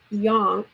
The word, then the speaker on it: Yonk: And then C Yonk rhymes with honk.